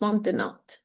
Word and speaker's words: maintenant: dérouler juste maintenant. Pas maintenant, mais maintenant. Maintenant, Oui, le T. On maintenant.